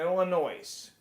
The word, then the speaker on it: Illinois: We pronounce it Illinois.